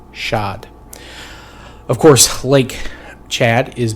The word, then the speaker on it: Chad: English as Chad um the French don't pronounce the the T and that so in English we just heard the French pronunciation Shad of course Lake Chad